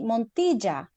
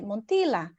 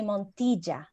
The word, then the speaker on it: Montilla: And my surname is actually Montilla, which I try to pronounce like that in Australia. But when an English speaker try to pronounce my surname, they just say Montilla because the double L is not like a normal thing to say, but it's actually Montilla.